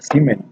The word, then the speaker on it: Siemens: Se escribe Siemens, pero se pronuncia Siemens, ¿sí?